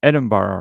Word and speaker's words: Edinburgh: time is hold on I looked up the pronunciation before because I suck at this oh yeah yeah so it's edinbaro right so uh in Scotland in